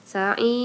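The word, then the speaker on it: سعير: Ir cara baca rohnya adalah tarqi. Sa'ir gitu ya.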